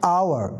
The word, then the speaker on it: hour: هنا الصوت متحرك an hour النطق هنا للأو لأن ال H silent. So لذلك أنا العبرة في الصوت an hour وليس في الحرف.